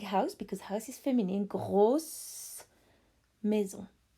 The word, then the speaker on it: gros: So you could say, for example, a big house, because house is feminine, grosse maison. If it was an apartment, which is masculine, it would be gros with a silent S.